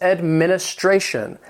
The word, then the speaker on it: administration: Number 3 is administration. And administration has 5 syllables with the stress on that fourth syllable.